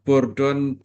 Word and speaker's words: Bourdon: Bacanya gimana nih? Eugen Bourdon ya.